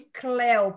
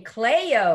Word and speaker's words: Cléo: dia um professor meu me chamou de Cléo que ele era mexicano e pronunciou meu nome certinho que americana não consegue pronunciar né dizem Cleia ou então ficará para